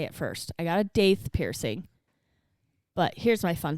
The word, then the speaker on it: daith: first I got a daith piercing but here's my fun fact it's actually not pronounced date it's doth and I only knew